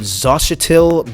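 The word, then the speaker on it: Xochitl: i might not say her name right but zashitil gomez i believe is how you say her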